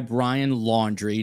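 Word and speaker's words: Laundrie: There's this guy, Brian Laundry, not spelled like laundry, but close enough.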